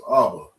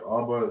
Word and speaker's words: Abba: Father in Hebrew is Abba. Right. Abba, you have an ah and a ba. That's the first word in Hebrew.